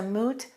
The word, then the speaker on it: moot: people say it's a moot point and the common mistake is when people say it's a mute point make sure you say moot if something is moot